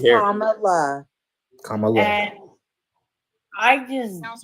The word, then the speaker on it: Kamala: So It's Kamala.